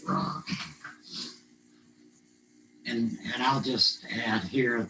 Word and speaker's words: Ra: So even when it's spelled, even when somebody spells it R-E, I would always pronounce it Ra.